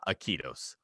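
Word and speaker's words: Iquitos: definitely nothing like you you don't pronounce it anything like it's spelled me it's it's i-q-u-i-t-o-s so uh aikidos obviously so good obviously so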